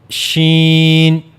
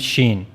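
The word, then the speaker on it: شين: formation of scene and sheen. Now how to pronounce shen? So for pronouncing shen you have to use the middle of the tongue and you will go to the raw roof of the mouth.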